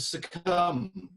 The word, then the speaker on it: succumb: begin with an f the silent b at the end of succumb which still sounds like